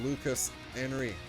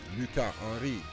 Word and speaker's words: Lucas Henry: Uh, the guitar work is amazing on the lead by uh Tom Larbani, but also Lucas Henry or Luca Enri if we pronounce his name in French is providing very solid rhythm section with riffs bang all day long.